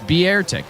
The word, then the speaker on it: Beartic: It's pronounced Beartic. That's what I said. Beartic.